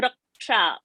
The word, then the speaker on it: रक्षा: Raksha, so Ksha is a conjunct. That Ka and a Ksha is joined to get Ksha. So Raksha, there is a pressure on a R word.